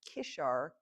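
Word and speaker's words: قشر: Now the other drink up there is this coffee drink, which I think is pronounced Kishr, K-S-H-R, K-I-S-H-R, I think is the spelling.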